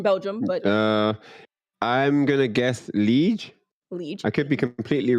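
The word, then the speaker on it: Liège: So, but I'm gonna go with Liege because I can't pronounce the E sound. But yeah, Liege, Belgium.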